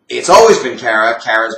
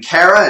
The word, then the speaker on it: Kara: It's kind of I guess a short A, a throwaway A.